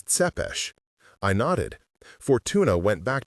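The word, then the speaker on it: Țepeș: He pronounced the last name as Tepesh.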